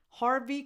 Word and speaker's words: Harvey: Harvey Keitel. Harvey, like heart.